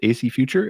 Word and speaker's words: AC Future: guests here Arthur Jason COO of is it AC future am I pronouncing that correct ly yes Brian thank you